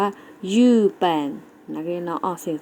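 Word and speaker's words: 日本: นั่น เอง ประเทศ ญี่ปุ่น แล้ว จะ ออก เสียง ว่า ยืด แปลน นัก เรียน เอา ออก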